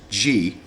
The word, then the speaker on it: Gy: Men, pronounced An, and women, pronounced G, have equal rights.